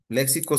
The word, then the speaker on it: léxico: Es con X y lleva acento en la E.